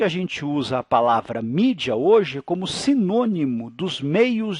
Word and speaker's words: media: na verdade em latim a palavra média que em inglês não é se pronuncia mídia daí veio na verdade